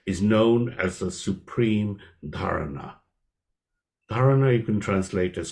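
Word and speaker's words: धारणा: If we or dharana or dharanam, that's how it's spelled. That's where you accent the A's there, and it's a clear N, so it's dharana, right?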